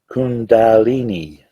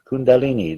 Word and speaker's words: kundalini: power of the kulandi kulen kulenmi i can't pronounce it i'm sorry kundalini kundalini there we go i think that's it the